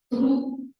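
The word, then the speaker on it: trou: El neologismo que usa es, como mencionó él, tru, se escribe T-R-O-U, tru, se pronuncia así, traumatismo, tru es agujero.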